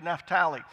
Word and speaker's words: Naphtali: that in America we pronounce it that way, but it's actually Naphtali.